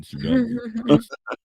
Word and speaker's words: tsunami: No, you pronounce the T in tsunami.